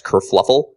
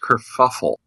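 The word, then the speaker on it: kerfuffle: the big I guess Kur fluffle if that's uh that's my word of choice for today and I believe it's pronounced Kur fuffle Kur fuffle oh you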